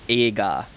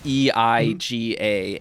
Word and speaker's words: eiga: So E-I-G-A, eiga. When you pronounce the E and the I, when you think about it, you might tell someone it's just a long E. It's a, but you are saying eiga. Yeah. It's just very subtle. It's like a. very subtle in there.